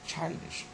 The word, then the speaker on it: childish: We have got childish. Nothing is changed, everything remains the same. It is actually the first syllable which receives the stress, child, then ish, okay.